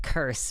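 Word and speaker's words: Kirs: Oh, my name sounds like curse, but I appreciate the proper Scandinavian pronunciation. Yeah, no worries. Curse, that's cool. K-I-R-S, curse.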